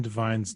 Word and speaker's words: Devine: Adam Devine, yeah.